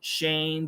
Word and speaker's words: Shane: perf class that's right name Shane those are long A's eight eight name Shane they're all along a sound bait that's right AIT bait